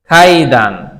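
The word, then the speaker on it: かいだん: খাইদান শব্দটা হচ্ছে কাইদান কিন্তু জাপানি ভাষায় ক এর উচ্চারণটা অনেকটা খ এর মত হয় কির মত হয় খ এর মত হয় ঠিক আছে খাইদান একবারে পুরোপুরি খ না তবে হালকা খ এর উচ্চারণ থাকবে এখানে ঠিক আছে কাইমা খাইমনসিমাস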